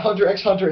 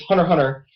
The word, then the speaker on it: Hunter x Hunter: It's not Hunter x Hunter. It's Hunter Hunter, Hunter Hunter, and it's Spy Family. There's no X. I've heard people say it like that. It's like in I videos. know for a fact you're not supposed to call it Hunter x Hunter. It's supposed to be like Hunter Hunter, Hunter Hunter at least.